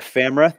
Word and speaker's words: FAMRA: Well, it's spelled like camera, but with an F.